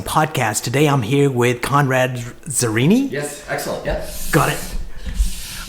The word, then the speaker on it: Conrad Zurini: Today we had Conrad Zurini. Did I pronounce it right?